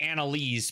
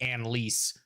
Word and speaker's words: Anelise: Uh, I've been saying Annaise, but she did just pronounce it Anelise.